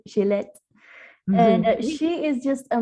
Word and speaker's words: Gillette: Today I'm so excited we're talking to Gillette, and I actually pronounced it before more French, right? Gillette.